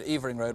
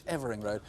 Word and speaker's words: Evering Road: I had at least one call saying that my pronunciation of the road, Evering Road, was wrong. It's Evering Road.